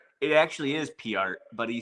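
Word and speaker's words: Peart: Is it per or P art? It actually is PR, but he said, but Neil Per said that so many people mispronounce it that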